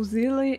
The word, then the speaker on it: SEELE: is called SEELE, and this name is pronounced SEELE because it has German origin and it is translated as a soul from German.